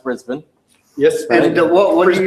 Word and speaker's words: Brisbane: right and you're the reason I know it's pronounced Brisbane yes and what are you buying things any